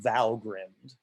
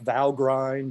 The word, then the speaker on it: Valgrind: tool is called called valgrind i know it's still it's written it looks like val grind and it's fine if you want to pronounce it that way but my daughters who